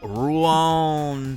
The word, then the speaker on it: Rouen: And that is in Rouen, France.